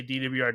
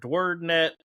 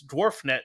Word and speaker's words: DWRD: And I was like, I always just say DWRD because it's my initials, but I've heard dwaret. You know, there's a guy the other day in Arkansas. He's like, I it reads dwarf net to me, you know,